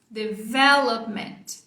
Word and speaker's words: development: Development. Uma outra coisa que pode ajudar na sua pronúncia aqui é a junção desse P com esse M. Você não precisa explodir, você não precisa falar development.